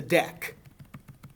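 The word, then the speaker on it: deque: you're doing Java is the deck uh which is spelled D q e um which basically allows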